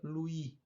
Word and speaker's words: Louis: ângulo de Lui né Escreve Louis Mas normalmente pronuncia Lui então o ângulo external